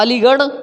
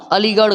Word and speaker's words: अलीगढ़: अदा पढ़ना है क्योंकि इसकी अंग्रेजी जो होती है आर ए हा होती है और इसकी इंग्लिश दी हा होती है दी हा से द होता और आर ए हा से बड़ा होता है जैसे मैंने कहा अलीगढ़ मैंने कहा अलीगढ़ गौर से देखना मैंने कहा अलीगढ़ इसकी स्पेलिंग अगर मैं लिखूं इंग्लिश में तो ऐसे लिखना है जी ए आर हा ना की अगर आप